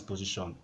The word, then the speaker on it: position: So take note, it's not 4, it's 3. Shon is a single syllable.